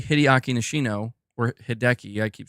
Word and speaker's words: Hideaki: It's Hideaki.